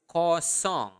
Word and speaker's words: kosong: So if you want to say 0, 0 is kosong. Okay, in Bahasa. Say it again. Repeat it after me. Kosong. Make sure that you are pronouncing the nasal sound there.